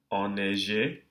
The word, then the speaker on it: enneigé: Enivré, enneigé, ennui. So we're still pronouncing the N in these cases, but the vowel that precedes it is nasalized.